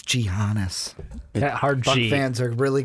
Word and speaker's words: Giannis: ones at some point Yannis not TMO pretty much a number one already but you know believe he said the name wrong it's gianas that hard fans are